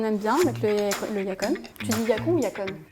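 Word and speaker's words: yacón: de Yakon en CO quand je suis parti au Pérou cet été il disait yacan mais moi je prononce on va dire à l'amériicaine c'est yacon pour moi d'accord yacon en tout cas il y a pas vraiment de règles donc voilà j'essaie de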